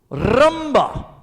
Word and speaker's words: rumba: It is called, roll your R's, the letter, rumba.